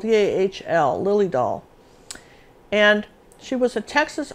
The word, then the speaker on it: Dahl: Her name was Lily Dahl, and it's spelled D-A-H-L, Lily Dahl.